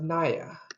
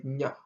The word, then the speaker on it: ny: non-Nuer speakers is ny, which they always pronounce as naya. This is not naya, this is nya. Ny is nya.